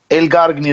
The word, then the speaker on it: Elgargni: Elgargni, that's right.